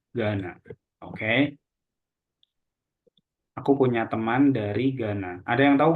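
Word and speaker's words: Ghana: from Gana jadi e kalau GH ini yang dibaca g-nya aja kayak gitu kayak di sini tadi jadi h-nya he-nya itu enggak dibaca tapi langsung g-nya jadi bukan Gana tapi Gana Oke aku punya teman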